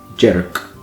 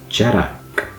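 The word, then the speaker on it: dearg: It looks like it would be said Jerak, but it's Jerak. It's got a kind of a a vowel between those two syllables there.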